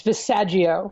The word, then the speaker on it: Visaggio: i pronouncing that right it's visaji Oh passaggio like you can